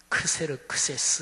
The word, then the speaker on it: 크세르크세스: 4지구 페르시아의 왕이 아하수에로 이게 이제 보통 세상 역사에서 쓰는 발음으로 하면 크세르크세스 에스라는 사람이에요 그 300